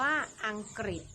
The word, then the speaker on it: อังกฤษ: ค่ะ ที่ 3 คือ คำ ว่า อังกฤษ ออก เสียง ริ หมาย ถึง ชื่อ ประเทศ